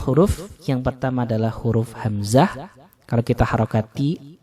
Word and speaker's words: hamzah: Banyak orang yang membaca huruf hamzah seperti orang membaca huruf A dalam bahasa Indonesia. Kalau huruf hamzah itu cara membacanya ke dalam tenggorokan. Jadi suaranya syiddah, suaranya ditekan. A, ya, ini suara hamzah.